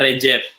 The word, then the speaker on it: Recep: C itu di sana dibacanya J. Jadi kalau ada yang baca Recep itu berarti orang Sunda gitu ya. Bacanya di sana Recep.